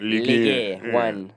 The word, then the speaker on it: Ligue 1: In Ligue 1. That's how you pronounce it. Ligue 1.